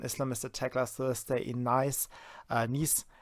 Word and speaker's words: Nice: Then we had an Islamist attack last Thursday in Nice. Actually, that's the French pronunciation, the Nice.